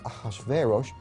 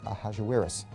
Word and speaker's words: Ahasuerus: Well, that was hard for the Jews to pronounce, so they said Ahasuerus. We know him as Ahasuerus.